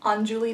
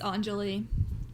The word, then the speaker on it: Anjali: The next book that I read was The View Was Exhausting by Michaela Clements and Anjuli Datta. It's Anjali.